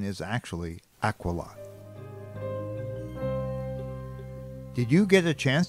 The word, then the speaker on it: Aquila: Now you might know this constellation as Aquila, but the correct pronunciation is actually Aquila.